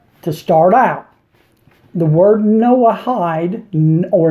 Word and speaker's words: Noahide: this video now to start out the word Noahide or Noah hide as it's pronounced in Hebrew is not in the Hebrew